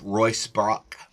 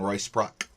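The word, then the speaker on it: Ruysbroeck: E C K um sometimes pronounced Royce Brock, John Royce Brock, but many scholars including Evelyn Underh Hill have relied on him for clarity and description and explanation.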